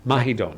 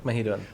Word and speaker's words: Mahidol: Simon Boyd, from the Mahidol University. Did I say it right? Yes. Mahidol. Mahidol.